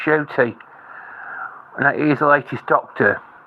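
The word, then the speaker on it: Ncuti: I used to think maybe you pronounced his name Nakuti, but it's actually come from the camel's mouth. He actually pronounces his name as Shooty, because it's an African name. It's spelled Ncut, but it's pronounced Shooty.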